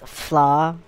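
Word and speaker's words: Pflarr: It's flaw. The P is silent.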